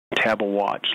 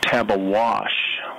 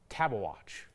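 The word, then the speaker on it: Tabeguache: Tabawatch, like wristwatch. We do know that some folks pronounce that Tabawash with a SH sound at the end, but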